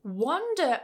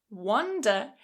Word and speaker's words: wander: Wander on the other hand with /o/. Wander. This means to walk around aimlessly with no particular direction, just leisurely wandering, walking around.